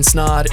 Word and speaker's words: Snaadt: My name is Snaadt. It rhymes with odd, and you're listening and watching the Rhymes with Odd podcast.